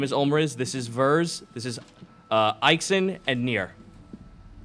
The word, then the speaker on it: Vers: Verz, which is power, V-E-R-S.